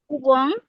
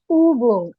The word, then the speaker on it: Übung: ও হুম, উ উ, এস হুম ইয়া, Apple, example, ইয়া, অফনেন, হুম, উবং, উবুং, উবুং। ইউতে আর একটু pressure হবে।